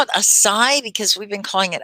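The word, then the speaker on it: açaí: um you call it a sai because we've been calling it a chi so this the c is pronounced like s right a a sai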